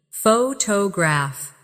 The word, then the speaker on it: photographer: Photograph. Now, photographer. Notice how the stress changes when the word becomes longer.